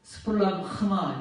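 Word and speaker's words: σπλάγχνα: 여기 발음 보세요. 스플라흐마 이렇게 읽는 거예요.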